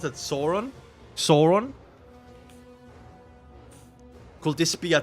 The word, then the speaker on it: Sauron: How do you pronounce it? Sauron.